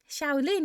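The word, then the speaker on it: Xiaolin: Shaolin. Yes. Oh, that's how you say it. Thank you so much. It's the X. The X always throws me off.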